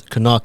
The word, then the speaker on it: Knock: It's not Knock, it's spelled Knock, but it's Canuck and Associates.